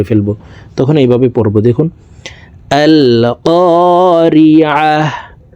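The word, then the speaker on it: القارعة: তখন এইভাবে পড়ব, দেখুন, আল কারিআহ। এখানে আলে পড়া যাবে না, আমেলাহ করা যাবে না। আল কারিআহ, আল কারিআহ, মাল কারিআহ।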